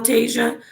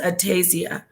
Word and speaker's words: Atasia: Is it still Tasia? Tasaya, or is it just Atasia? Atasia.